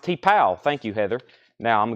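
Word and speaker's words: T'Pau: T-Paw, $24.99. And Someone to Watch Over Me. That's a Sinatra we don't get as often. $14.99 on Frank Sinatra. David Eberly wants the Little River Band. It's pronounced T-Pow.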